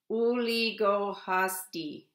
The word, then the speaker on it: Uligohasdi: And in fall, fall is pronounced Uligohasdi. Uligohasdi means fall or autumn.